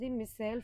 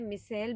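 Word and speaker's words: micelle: you mean by मिसेल आप pronounce कैसे भी कर सकते हैं मिसेल भी बोल लीजिए या मिसली भी बोल लीजिए मैं मिसेल बोलूंगी ठीक है सो मिसेल्स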